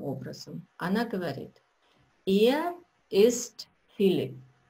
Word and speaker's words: Philipp: Ее спутник Филипп, и он из Австрии. Анна представляет его следующим образом. Она говорит, «Er ist Philipp». Не Филипп, а Филипп по-немецки.